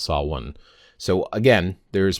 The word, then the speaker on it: Samhain: And the word itself, like I said, there is an Irish word, sah-win, and that is for the actual month of November. There's also other Gaelic words that are similar in their pronunciation. And I do have some pronunciation guides. A lot of people get confused. They want to say Samhain when they see this word. Well, this isn't Samhain.